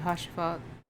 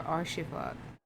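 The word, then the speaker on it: Haurchefant: Anyways, we should make for Camp Dragonhead and speak with Lord Hoshifat or Arshifat. It's the H is silent, right?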